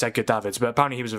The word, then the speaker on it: Edgar Davids: Yeah, I pronounced it Edgar Davids. Yeah. Um but no, it's Edgar Davids.